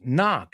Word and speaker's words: knock: not oh it's ah even though there's an O it's not no it's knock say it again knock and it's sure it's not knock it's knock knock knock H so a silent k knock does it you